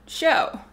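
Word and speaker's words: shew: during this story is the word show but not the way we spell it s s-h-e-w now could this just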